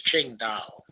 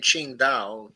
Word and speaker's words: Qingdao: met last week in Qingdao. I think that's how you pronounce the Q when you're talking Chinese. Might be wrong about that, but I think it's Qingdao in China's Shandong province.